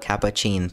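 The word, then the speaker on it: Catppuccin: Right now I'm using the Capacin theme. Yes, that is literally how it is pronounced.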